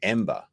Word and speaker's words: EM8ER: Ember. And it's spelled with an 8 for the B.